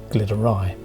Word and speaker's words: Glyderau: to correct myself here I'm wrong about both the pronunciation and my compass bearings the mountains are in fact called the Glitters and not the gliders and in Welsh they're referred to as the glitter ey and the ridge tends